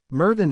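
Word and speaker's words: Myrddin: magic courses asked Remis murin is the old Welsh pronunciation of Merlin the cave must have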